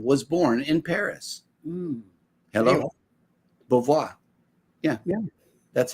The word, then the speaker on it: Beauvoir: Beauvoir.